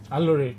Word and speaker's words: Aloore: Aloore, am I right? Aloore, yes. Aloore radio studio line. Now I want to pronounce it because I want to sing.